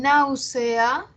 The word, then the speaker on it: náusea: En náusea también es una palabra esdrújula, ¿no? Primera sílaba, nau. Segunda, C. Tercera, A. Ya, ahora, ¿cómo las cuento desde el final? Última, penúltima, antepenúltima. Nau es la sílaba que tiene la mayor fuerza de voz, es la que tiene el acento, la tónica.